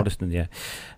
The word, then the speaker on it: Waddesdon: It's sad news indeed of a aircraft and helicopter mid-air crash near Waddesdon. I think that's is that how you pronounce that one? Yeah, that's it. Yeah. Waddesdon, yeah.